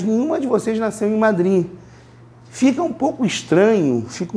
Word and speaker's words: Madrid: Porque esse D é falado, mas não é falado fortemente. Não é Madrid nem Madrid. Madrid. Vamos tentar? Madrid. Vocês entendem que vocês vão pronunciar o D, mas vão quase que cortar ele no meio?